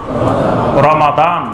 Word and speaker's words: রমাদান: আমরা এটার রমজান মাস বলি, কিন্তু শুদ্ধ উচ্চারণ হলো রমাদান, শাহরু রমাদান।